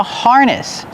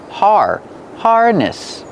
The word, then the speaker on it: harness: Harness. Pronunciation, use the R sound like far and bar. Har. Harness. The stress is on the first syllable. Harness.